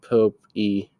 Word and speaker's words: Pope: Her assistant coach is Logan Pope, pronounced Pope E.